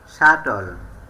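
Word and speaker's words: subtle: টি লেটারটি থাকে তাহলে বি লেটারটি সালে থাকবে সাটল এস ইউ বি টি এল ই সাটল সাটল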